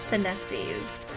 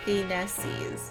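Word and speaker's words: Phoenicis: Just Finesses. Oh. So, like Phoenix, okay. Finesses. Yeah, because that sounds more like you're trying to say Phoenix.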